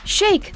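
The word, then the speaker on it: Shayk: woman herself arena shake think shake like the word handshake and you'll nail this model's last name professionally called arena shake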